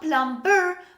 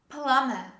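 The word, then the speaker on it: plumber: name of a profession this is not plum burr most english learners they mispronounce this word and they say plum bur this is palama plummer say with me palama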